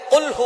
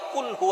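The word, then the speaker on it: قُلْ هُوَ: আল্লাহ পাক রাব্বুল আলামন এখানে বলছেন কুলহু আল্লাহু আহাদ। এখানে কফ দিয়ে পড়ছেন কিন্তু অনেকেই ভুল করে উচ্চারণ সঠিক না হওয়ার কারণে তারা পরে কাফ দিয়ে। কুলহু আল্লাহ।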